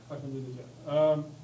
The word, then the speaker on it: Ahmadinejad: How do I pronounce it? Ahmadinejad.